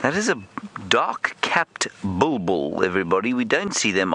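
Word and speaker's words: bulbul: o no it's not it's a bull bull not a boo boo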